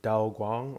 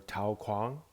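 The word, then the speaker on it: 道光: So the starting year of Emperor Dao Guang, or Tao Guang, however you like to pronounce it.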